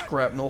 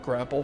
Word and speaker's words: grapnel: And then I noticed people pronouncing it grapnel hook, and I'm like, holy shit, have I been mispronouncing this word my entire life and people were just too polite to tell me that it's grapnel hook, Seamus, not grapple hook?